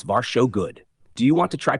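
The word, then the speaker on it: varsågod: Tac three your welcome is varso good pronounce v show good do you want to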